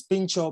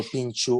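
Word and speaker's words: pintxo: wrong niran not um i'm not sure how it's pronounced i'd say p-i-n-x-o think so uh yeah it's pincho but i can give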